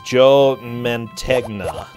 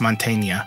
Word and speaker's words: Mantegna: main actor for Eddie is Joe Mantegna I think it's called pronounced Montaigne oh yeah yeah yeah